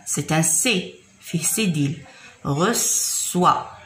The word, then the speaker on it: reçoit: reçoit. او اي تنقرا و. هذه او اي نقراوها كيفاش؟ و او اي. اذا reçoit.